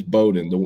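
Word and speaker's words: Bowdoin: not the same thing no so that's it's Bowden the D3 College in main is Bowden the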